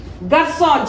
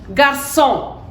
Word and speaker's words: garçon: Garçon, G-A-R-C, cedilla, O-N. Garçon means boy or waiter.